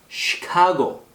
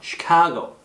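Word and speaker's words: Chicago: 그 다음에 이게 CH 발음이 이 발음이 나요. 쉬 발음이 나요. 쉬 발음은 어린아이 이제 오줌 누일 때 자, 쉬하자, 쉬. 바로 그 발음이라고 보시면 돼요. 그래서 시, S 발음이 아니고요. 시카고.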